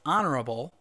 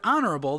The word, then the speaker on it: honorable: is a consonant but in the word honorable the H is not pronounced the H is silent therefore honorable begins with